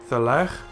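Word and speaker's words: תֵּלֵךְ: Then here is a Shewa under the closing kaf, but it is silent because it is the last letter. Hence, Thelech, which means you will go.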